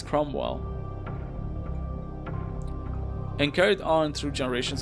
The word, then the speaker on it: Cromwell: I keep meaning to say like Cornwall, but it's Cromwell.